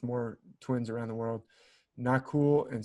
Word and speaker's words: Nakul: twins around the world nakul and sahadev are twins in the midst of ancient india in the mahabharata of ancient india usually their names are pronounced without that last a is usually silent so it's like not